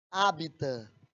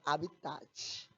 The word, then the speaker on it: hábitat: Então o pessoal que gosta de ser besta aí chama habitat. O habitat natural desta espécie. Rapaz, mas eu vou dizer, viu? Hábitat. O hábitat, o T é mudo, viu, gente? Habitat. É hábitat.